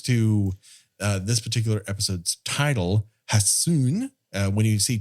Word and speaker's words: Hassun: And when it comes to this particular episode's title, Hassun, when you see 2 consonants together in Japanese, you have to pronounce H.